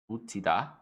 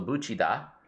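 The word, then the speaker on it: 붙이다: Butida. Oh wait, no. When it's followed by the E sound, it's a chi. So buchida.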